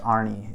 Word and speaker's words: Arne: And so my older brother's name is Arne, which is A-R-N-E, also pronounced Arnie in America.